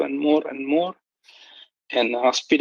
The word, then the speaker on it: Aspide: So going back to a really previous argument, I just want to say that the correct pronunciation is aspide. It's a asp snake, so a viper.